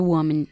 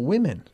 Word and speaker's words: women: My ex-girlfriend used to get very jealous when I talked to other women. Woman or women? Women. Again? Women. One woman, two? Women.